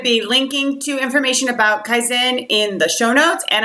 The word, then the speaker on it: Kaizena: And I know it looks like it's spelled Kaisennena, but it is pronounced Kaizen.